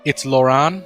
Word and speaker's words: Loran: Loran, so it's like it's moron, but with an L.